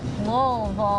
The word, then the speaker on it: Louisville: I say Louisville louville say it like you've had a couple of drinks Lille there you go that sounds perfect thank